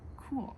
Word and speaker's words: Kuhl: Kuhl is German for, can you guess? Cool. Kuhl is spelled K-U-H-L, the brand, and it is a German word for our English word of cool.